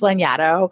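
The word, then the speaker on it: Lanyado: really hard to spell it's lenato and it's not frenetic so it's probably not spelt the way you think it is it's l-a-n-y-a-d-o-o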